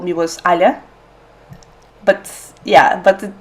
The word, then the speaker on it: Alia: family called me was Alia. But yeah, but like for English people, it's hard to pronounce Alia because like Yeah. the soft ya on the end.